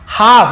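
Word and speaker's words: half: brought होता है, लाई, हाफ, इसे हाल्फ नहीं पढ़ेंगे, हाफ एल साइलेंट होता है, केवल हाफ द मैंगो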